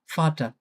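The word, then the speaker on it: Vater: ওকে, এরপরে দেখি ফাও, ফাওটা আমরা বাংলায় যে ফ থাকে, ফ এর মতো উচ্চারণ হয় ইউজুয়ালি। তো দেখি এটা ফাটা মানে বাবা।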